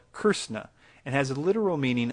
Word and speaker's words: Krishna: words Krishna and Christ the Sanskrit word is called curse na and has a literal